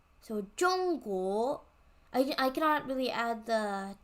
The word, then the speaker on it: 中国: So we have ZH is pronounced J, not za or zo. It's J. So 中国.